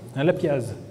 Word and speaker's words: lapiaz: juste après les lapiases lapiaz alors curieusement les dictionnaires nos dictionnaires de référence prononce le Z alors que dans la région j'ai l'impression qu'on ne le prononce pas en tout cas je